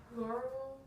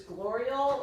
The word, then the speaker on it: gloriole: Remember how do you break it down? Gloral. Glor. Gloral. How do you say this part right here? I know the writing's not. I should have learned it. Glorial. Gloriole. Good.